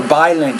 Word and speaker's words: violent: the 3 minutes of violent shaking. It's violent shaking with that V. You're saying more violent shaking, but violent shaking. You need to pronounce the V with more vibration.